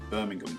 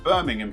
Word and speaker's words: Birmingham: I'm pronouncing it like a proper Londoner, Birmingham. So you've got Birmingham here.